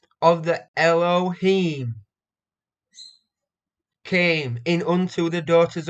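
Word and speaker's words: אֱלֹהִים: creative he them so the pronunciation is Elohim it is number h430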